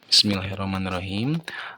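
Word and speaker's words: بسم الله الرحمن الرحيم: nah membacanya Jangan Bismillahirrahmanirrahim nah jangan seperti itu ya tapi usahakan Panjang pendeknya itu tepat Bismillahirrahmanirrahim Nah itu salah satu contohnya jadi ee makanya panjang jadi Jangan semuanya panjang gitu karena semuanya bukan mad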